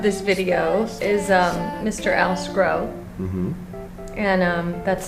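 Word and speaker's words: Sgro: Al Scro. Mm-hmm. And that's spelled S-G-R-O.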